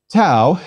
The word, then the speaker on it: tau: words please repeat sigma tau is equivalent to our t and pronounced as the t in tip please repeat upsilon this